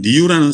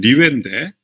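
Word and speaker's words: Rieux: 이 소설의 주인공격인 사람은 리유라는 사람인데 원래 발음으로는 리웨인데 민음사에는 리유라고 그렇게 그냥 부르자 이렇게 얘기하고 있죠.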